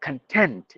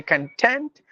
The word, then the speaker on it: content: there are two syllables if you give the stress in the beginning it's noun meaning stuff matter material or the most important thing but if you stress the second part it turns out to be a verb like content if we